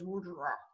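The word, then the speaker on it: WOJR: firm was called w-o-j-r which i always pronounce in my own mind as wordra um but uh uh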